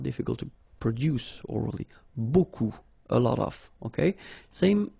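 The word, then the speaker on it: beaucoup: strange Buu like that remember you don't pronounce the final P okay and then you get this combination of vowels uh and you get the sound o so technically it's okay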